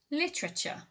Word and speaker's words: literature: 10 is literature literature now i'll break that down into syllables for you again so it's li so you've got a couple of things going on there you've got um you know you've got a drop syllable you've got the ch sound and then you've got a schwa sound um also in american